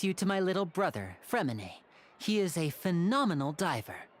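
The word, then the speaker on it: Freminet: Freminate. Where did everyone else go? I have some new friends that I would like to introduce. That's how you say it. I had a feeling the T was silent.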